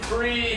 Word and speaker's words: Fried: I am your host, Freed, and it is spelled like fried.